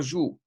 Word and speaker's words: joue: The last letter when we write down joue is a silent E. Now, that E doesn't serve to tell us to pronounce the OU. We're going to pronounce it anyway.